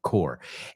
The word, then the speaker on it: corps: Core. And the second one cs. And you know what? That's also pronounced core.